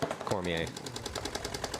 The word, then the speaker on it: Cormier: It's French. Got to get that French pronunciation where you kind of eat the last bit of the word. Swallow that last four letters.